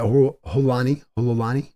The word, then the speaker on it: Holani: Holani. That's how you pronounce it.